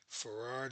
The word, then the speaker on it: Fard: Wallace D. Farard is spelled Fard, and then Muhammad.